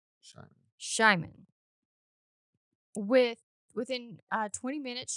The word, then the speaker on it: Simon: However, when pronounced by a Hungarian person and heard by an Englishspeaking ear, it would be spelled as s c or excuse me, s h i m a n.